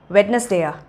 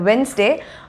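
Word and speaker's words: Wednesday: Sunday Monday டியூஸ்டே அதுக்கப்புறம் என்ன வரும், வெட்னஸ்டேயா? வெட்னஸ்டே கிடையாது, அது வென்ஸ்டே. ஆனால் பல பேர் வந்து நம்ம தப்பாக ப்ரொனவுன்ஸ் பண்ணிகிட்ருக்கோம். ஸோ அது வந்து வென்ஸ்டே, WENZ. ஸோ வென்ஸ்டே.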